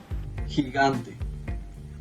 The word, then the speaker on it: gigante: Now, if the G is followed by an I or an E, then the G would actually sound like an H for us English speakers. But I have a hard time with that as a non-native speaker, because when they say the GE or the GI, it has sort of like a, like some friction in the throat, like gente.